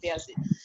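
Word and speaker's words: Bayezid: ওইখান থেকে আসলে বাংলাদেশে এই নামটার প্রচলন, মানে Turkish name বেয়াজিদ, Turkish origin. So ওদের উচ্চারণটা ওরকম।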